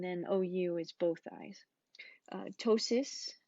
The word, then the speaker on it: ptosis: Ptosis, the P is silent. Ptosis is eyelid drooping.